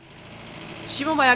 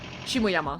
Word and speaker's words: Shimoyama: Shimomaya cut me off and the car started moving. Shimoyama. Sorry, I always mispronounce this name.